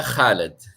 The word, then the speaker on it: Khaled: But just to confirm, did I pronounce the name right? Yeah, yes, right. Basta Khaled.